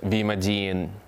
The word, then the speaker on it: Vimadian: We're called Vimadian Duo, which consists of 4 syllables: V for violin, Okay. Ma for marimba, D for Dennis, and for Anastasia.